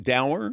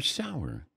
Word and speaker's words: dour: manner or appearance okay Satan you want Dow or sour um I'm more of a dow guy but I'm open to sour I'm not a hardliner